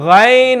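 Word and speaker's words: غ: the two letters that come from this is rain and everyone say with me rain okay a lot of people they get confused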